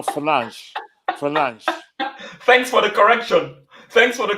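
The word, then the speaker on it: Fernandes: all know he's all penandez if penance is in the game you guys are crap i'm sorry can i correct you his name you've pronounced his name wrong his name is actually bruno finance for lunch thanks for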